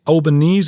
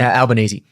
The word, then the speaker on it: Albanese: What's Prime Minister Anthony Albanese? Is that how you say his name? Right. Albanese. Okay. Albanese.